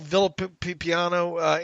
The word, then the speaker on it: Villapiano: Phil Villapiano.